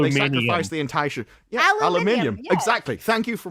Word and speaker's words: aluminium: Yeah, aluminium. Yeah. Exactly. Thank you for pronouncing properly.